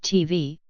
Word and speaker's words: tbh: pronounced v bc likewise the Gaelic acronym for television is tbh pronounced TV as in English his first glance at